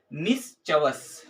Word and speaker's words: mischievous: ठीक है, उसके बाद से हमारा नाइन्थ नंबर पे जो है वो क्या है, मिसचवस।